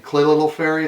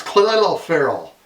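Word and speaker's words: Clelin Ferrell: Khalil Ferry. It sounds like it's saying Colin Farrell, but it's Khalil Farrell out of Clemson, defensive end.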